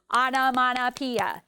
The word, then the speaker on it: onomatopoeia: Is called, and then you're going to clap the syllables. Onomatopoeia. And every time I believe we do it twice. The word that imitates a sound is called, there's a little pause there, onomatopoeia.